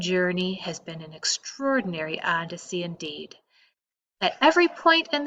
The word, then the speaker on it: Odyssey: For example, in this chapter, you will come upon the words Odyssey and Odysseus. They are respelled as A-D-C and O-D-C-us. The capital letters indicate which syllable to accent.